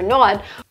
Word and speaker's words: not: We use the short sound ah like hot and stop. The short ah sound. Not. Not. The correct pronunciation is not. Use a stop T at the end and a short O.